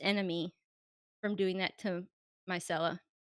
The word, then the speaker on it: Myrcella: from doing that to Myrcella? Marcella? Micella? Myrcella, MYR. Marcella, okay. So, Frankincense and Myrcella. frankincense, and I like that, I will never mispronounce that one again.